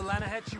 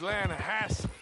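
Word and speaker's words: Lannahechee: rolled down to the Lana Hatcher River I caught some beautiful steelhead trout you mean the Lana no Lana hatch it runs right near here yeah but it's pronounced Lana Hass why is everything in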